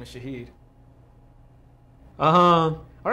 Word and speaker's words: Shaheed: hi uh Shahed um is that the correct pronunciation yes Shah awesome thank you and uh